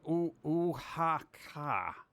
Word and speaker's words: Oaxaca: It's pronounced Oaxaca. Oaxaca? Oaxaca. Oaxaca. Oaxaca? Oaxaca. That X, I feel like I should pronounce the X because it would make it sound so cool.